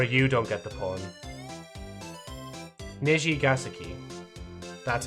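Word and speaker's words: Nijigasaki: Nishigasaki. That's how it's meant to be pronounced.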